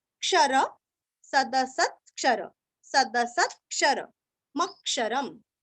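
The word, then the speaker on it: अक्षरम्: सदसत क्षर सदसत क्षर मक्षरम मक्षरम म पूरा पढ़ के म के ऊपर आघात मक्षरम लास्ट में आधा म सदसतक्षरमक्षरम सदसतक्षरमक्षरम सदसत्क्षरमक्षरम ऐसे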